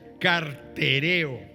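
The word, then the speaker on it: καρτερέω: hebreos dice se sostuvo es una palabra griega que se escribe con k y así se pronuncia cartereo la palabra cartereo quiere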